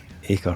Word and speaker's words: Acre: This is how it's pronounced now. Acre, fuck me.